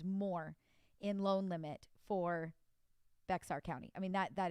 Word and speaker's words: Bexar: in loan limit for bexar county i mean that that is huge right and i think that they actually say bahar county in texas i think i'm even saying it wrong and i'm sorry guys